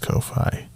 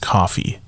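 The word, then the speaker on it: Ko-fi: have a ko phi i think it's pronounced ko phi courtney said it's pronounced coffee which anyway so yes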